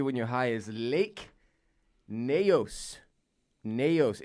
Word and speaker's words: Nyos: is Lake Neos Neos it's spelled in Y OS okay but to the best of my knowledge based on a very limited Google search where I where I typed in Lake Nyos pronunciation I believe it's Lake Nyos I'm looking in the